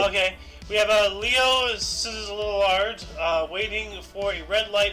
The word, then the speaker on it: Szilard: Szilard. I just wanted to hear you say it. Liard. I don't know Liard. how to pronounce those two letters. Those two letters don't belong next to each other. Sizzliard.